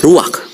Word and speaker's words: ruach: Kata dalam bahasa Ibraninya adalah ruach. Ruach? Ya, benar. Tenggorokan kita harus benar-benar bersih di akhir pengucapan.